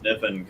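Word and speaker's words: Kniffen: uh one year james niffen comes from uh the k is silent from north carolina quite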